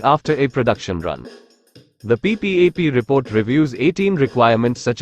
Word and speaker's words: PPAP: Hi guys, Home Appliances Advisor presents what is Production Part Approval Process, PPAP. PPAP, pronounced P-PAP, is a design or